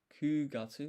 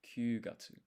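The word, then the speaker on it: 九月: Kugatsu, not kyugatsu.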